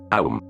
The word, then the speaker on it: Aum: Cuando pronunciamos Aum, AUM, son 3 palabras. Pero pronuncia Aum, largo, y al final la M resuena.